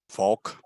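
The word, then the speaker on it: Falck: The ambulance, private ambulance, cephalic, how do you pronounce the name? Falk. Falk, just Falk, okay.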